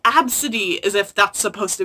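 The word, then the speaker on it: Abcde: the news because she named her daughter A-B-C-D-E and then someone made fun of her and then their defense was like, it's pronounced Absidy, as if that's supposed to be some defense.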